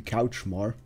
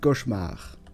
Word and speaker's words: cauchemar: Well, it's not my fault that everybody calls me Couchmar. It's your fault that you adopted it to yourself. It's just you just automatically adapt it to yourself. I can still pronounce it cauchemar. That's no problem. I still speak perfectly French when it has to be.